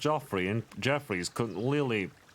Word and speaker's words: Joffrey: 10% wardrobe 90% confidence Joffrey is pronounced the same as Jeffrey no it's not Joffrey is clearly pronounced jofrey and Jeff could really